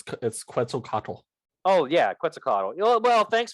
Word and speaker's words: Quetzalcoatl: I can possibly pronounce the god of civilization order. I don't know what that means. It's Quetzalcoatl.